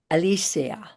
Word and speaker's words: Alicea: My name is Melinda Molton and today my guest is Alysia. Did I say that right? That was perfect. Alisa. And that's the that's the Spanish pronunciation of your name.